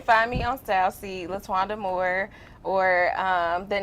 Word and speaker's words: Letwanda: And pronounce your first name again? Letwanda.